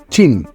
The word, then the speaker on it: Qin: It is written as Qin but pronounced as Qin.